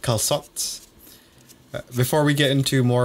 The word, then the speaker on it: calçot: Apparently that way just to signify that you pronounce the C soft instead of hard. So instead of saying calçot, you'd say calçot Calçot. or something like that.